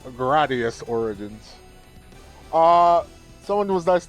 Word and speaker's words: Gradius: So uh so I'm going to start with uh Graius Origins which although I should be saying it correctly. Gradius Origins.